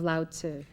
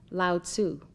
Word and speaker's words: Lao Tzu: are studying his writings many of you have commonly heard his name pronounced loud sue but it is correctly said loud sir and it is spelled